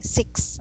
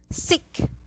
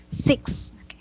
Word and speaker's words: six: six okay so so don't forget to include the s sound okay and to emphasize that sometimes you the way you say it is it sounds like this sick that's how you say it but that's good a correct way to say it it is six how about this word